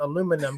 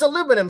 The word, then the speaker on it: aluminum: Me and a British friend got into it about aluminum because in Britain they say aluminium. Aluminium. That's Yeah. how it's spelled.